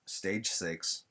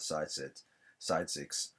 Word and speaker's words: Stage S: Only three made it, and those three are Stage Six. I butchered the name the first time. I called it Side Six, but it's Stage S.